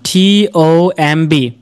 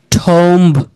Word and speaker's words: tomb: তাহলে এখন শুনেন, এটাকে আমরা কি বলতাম, TOMB, ঠোম্ব বলতাম না? তাহলে তারা আপনাকে কি বলে, বিটাকে সাইলেন্ট করে শোনেন, tomb, টিউম। তাহলে আজকের পর থেকে আর এটাকে ঠোম্ব বলবো না, কি বলবো, টিউম।